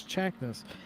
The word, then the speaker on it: Chakness: But Chakness, which, by the way, is how I'm told how you pronounce his name, is Chakness, in that number 15 car.